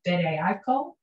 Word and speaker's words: Bediako: I'm going to say the last name wrong, Matt. Kwame Bediako.